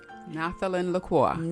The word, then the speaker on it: Naterly Corlannic: I'm going to let her pronounce her name. Naterly. I said it right? Naterly Corlannic.